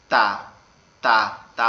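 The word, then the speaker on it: ت: ঠিক আছে, এরপরে যে অক্ষরটা আছে সেটা হচ্ছে তা, তা। তা অক্ষরটা আমাদের জিহ্বার আগা উপরের দাঁতের গোড়ায় গিয়ে লাগবে, লেগে উচ্চারিত হবে তা, তা, তা, এরকম ভাবে।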